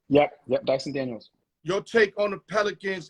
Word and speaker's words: Dyson Daniels: Yep, Dyson Daniels.